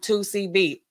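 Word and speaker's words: 2C-B: blah blah blah C the letter c and the letter b and then blah blah blah that's how we know and that's how they pronounce it 2 CB why in the world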